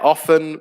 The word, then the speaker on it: often: bunny uh and jessie often yeah often where the t is silent is another good one